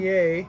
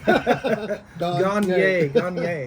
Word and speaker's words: Gagnier: you're an acquaintance, everything, and how I say my name is like when they're gone. Yay. You say yay. Gagnier. Gagnier.